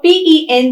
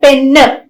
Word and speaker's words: pen: an error right so we should understand that p i t is pit not pitter p e n is pen not penne v bag is bag